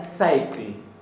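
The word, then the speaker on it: sæll: Bien, felizo es con doble L y se pronuncia cycle, cycle, cycle, pero de una manera no tan enfática, cycle, cycle, cycle, en islandés.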